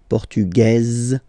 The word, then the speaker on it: portugaise: Feminine form, portugaise, you pronounce this z sound, okay?